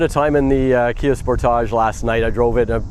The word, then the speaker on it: Sportage: So I've got the 2025 Kia Sportage, as I say it. Some people say Sportage. I think it sounds better as a Sportage.